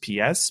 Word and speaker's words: PS: It's just PS because it's PS stands for, Psychic Symphony. And that's my artist name as well. I also do music and all my stuff is signed as PS.